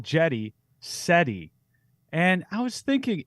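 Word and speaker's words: Cedi: Well, I remember everyone was calling him Seti at the beginning, and that was 2018. And I remember like the reporters, specifically asked like, how do you pronounce? And quickly it shifted from Seti to Jetty.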